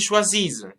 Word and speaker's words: choisissent: Et pour le pluriel, nous choisissons, vous choisissez, ils choisissent. Ici, the conjugation has double S, and remember that the E and T is not pronounced at the end.